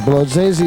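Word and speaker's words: Młodzieży: Lodzezi. Lodzezi is the correct pronunciation.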